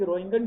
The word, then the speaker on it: Roentgen: ये हमारे पास एक एक्सरे बनाने का ट्यूब है, ये हमारे पास एक्सरे बनाने का ट्यूब है, इसको बोलते हैं रोइंगन ट्यूब।